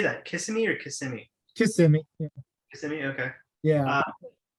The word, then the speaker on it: Kissimmee: Kissimmee or Kissimmee?